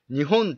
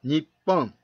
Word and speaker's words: 日本: 読み方ですが日本と日本どちらが正しいのかを知っていますか答えは結論から言うとどちらが正しいということではなく両方の読み方があるそうです 1 国の独立